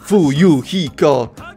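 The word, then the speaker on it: Fuyuhiko: moje nazwisko to kuzuryu moje imię wymawia się chuju hiko mam nadzieję że dobrze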